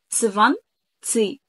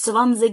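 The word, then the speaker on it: zwanzig: سفان سي، سفان، سفان سيش، سفان سيش، سفان سيش. طيب في نطق تاني طبعا سمعناه، وفي نفس الفيديو بتاع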